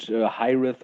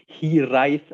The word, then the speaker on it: Hiraeth: Yeah, Hiraes actually derives from the Welsh word Hiraeth with a th at the end, and it's pronounced in a different way. You say Hiraeth or something like that in the Welsh language.